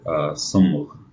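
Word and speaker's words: صمغ: The word here is glue, or in Arabic, sumgh. Sumgh. We're going to connect the meme to the gh. Sumgh. See the gh sound at the end of the word?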